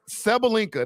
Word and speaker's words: Sabalenka: Sabalenka. That's how you say her name.